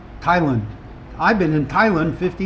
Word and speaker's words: Thailand: lot of people say Thailand and I've always said Thailand. I I pronounce the ah like hat and other people pronounce it Lund. Thailand.